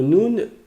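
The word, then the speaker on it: نون: d'aujourd'hui c'est le Noun le Noun c'est comme un n en français donc là c'est pas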